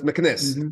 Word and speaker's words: Meknes: I heard it pronounced in different ways. I listened to different lectures, so it's interesting. But Meknes, that's Meknes.